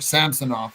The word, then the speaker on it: Samsonov: Is this going to be something similar like they did with Ilya Samsonov or Samsonov, as they pronounce it, in Toronto, or is it going